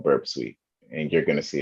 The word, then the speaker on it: Burp Suite: What we're going to be using is Burp Suite or Burp Suite, which is No, you said it right, Burp Suite.